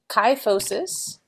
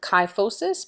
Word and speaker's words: kyphosis: I remember the term kyphosis because it rhymes with high. So chi and high, and it's the higher part of the back that has rounding, would be kyphosis.